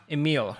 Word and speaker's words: Emille: And today we have Emille, right? I got it right. Yes, you got it right. Yes, good. Because when it comes to pronouncing names, I hate when I make a mistake because I called you Emily once and I was like, oh my.